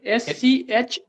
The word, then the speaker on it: schmaltz: SCHMALTZ.